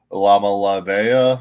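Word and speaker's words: Iamaleava: Nico Lamalavea, I think is how you say his name.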